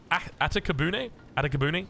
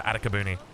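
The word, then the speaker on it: Atakebune: We've got Atakabune, I think is the correct pronunciation here.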